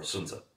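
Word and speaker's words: Sun Tzu: Art of War about sunzu or sunza the proper pronunciation I stand alone and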